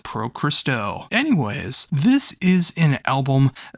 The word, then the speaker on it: Pro Christo: at the name, it is the very first syllables you hear on the album. It says Pro Christo.